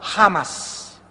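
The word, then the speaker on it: חמס: iniquidad en el hebreo se escribe chamas con ch chamas se produce la se hecho en el hebreo como j jamas y significa violento significa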